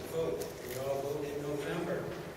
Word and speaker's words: Vought: It's a long O. I get Voight. I get Vought. I get Vote. There's many different pronunciations, but it's pronounced with a long O.